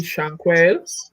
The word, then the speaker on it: Shanquelle: The way it's spelled is how you say it. Don't put no special sayings. Just let me see what you got. So I see Shanquelle.